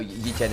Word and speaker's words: Yichen: No, Yichen is the Chinese pronunciation of 1xm.